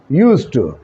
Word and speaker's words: used to: अच्छा, जब हम इसको प्रोनाउंस करते हैं, जब बोलते हैं तो ऐसा लगता है हम यूज़ कह रहे हैं। डी इसमें प्रोनाउंस आमतौर पे महसूस नहीं होता, लेकिन असल में ये यूज्ड टू है।